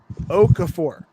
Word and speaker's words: Okafor: G-Webs is saying it's Okafor. Is how it's said.